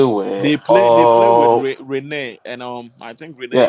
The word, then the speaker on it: Rennes: They were They play with all Rene, and I think Rene yeah.